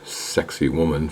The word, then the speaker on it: Sacsayhuaman: right here I entered Sak woman pronounced sexy woman for we greenos who probably can't pronounce suxy woman I entered from Cusco